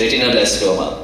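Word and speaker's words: retinoblastoma: diagnostic tool for please help me doctor in pronouncing this retino blastoma is that correct yes retino blastoma Sri Lanka overcoming significant logistical challenges he also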